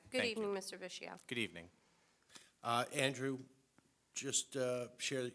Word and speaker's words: Vischio: Okay, and how do you say that? I just want to make sure. Vischio. Vischio, okay. Good Thank evening, Mr. Vischio.